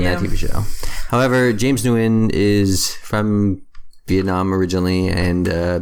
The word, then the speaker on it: Nguyen: Nguyen. Nguyen. Okay. It's much easier than how I was trying to pronounce it.